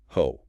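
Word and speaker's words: ὅ: John opens the epistle with a relative pronoun ho spelled omocrron with a rough breathing mark pronounced simply ho and it translates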